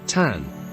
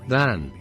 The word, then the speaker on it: than: From the speech we see that the non-Roma pronounce this word as tan, without the letter h, and not as the Roma, than.